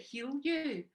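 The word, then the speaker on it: Hiuyu: now the thing is my chinese name is spelled h-i-u-y-u so that's why people can't usually pronounce it when they see it but you pronounce it heal you which is ironic and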